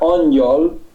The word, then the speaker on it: angyal: En húngaro mismo, si aquí después de la G, no sé si se ve bien en tu pantalla, ponemos GY, se pronuncia Angyal y significa exactamente ángel.